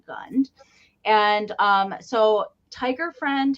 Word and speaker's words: Gund: so little tiger is made by Gund g-u-n-d wait you're gonna say it like Michael does goon yeah there is a remnant of the tag that would have been attached here but he is gunned and um so tiger